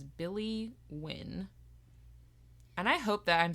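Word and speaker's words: Wynne: that she names Billy win and I hope that I'm saying her last name right it's spelled w y n NE e yeah I would say win okay I'm like Billy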